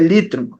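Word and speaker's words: λύτρον: Na verdade, a pronúncia é litron, fazendo o destaque.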